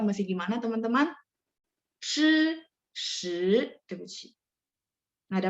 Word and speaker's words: 是: Jadi yang jadi masalah yang saya lihat, yang saya observasi adalah memang belakangnya itu kita naik gitu. Jadi akhirnya nggak jadi nada 4. Nah, jadi teman-teman mungkin lebih sadar aja. Oh, berarti dihentak semuanya ya. Jadi ekornya jangan sampai naik ya.